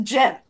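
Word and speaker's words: Ghent: say g h e n t no they pronounce a jent i you know have no idea what that's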